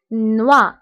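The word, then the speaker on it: noix: بالنسبة لنوي كتعني ليل، فقلنا أن أو إي كتقرب و، دونك هنا نوا نوا. بالنسبة هنا إكس لا ننطقها، دونك نوا هو الجوز، نوا.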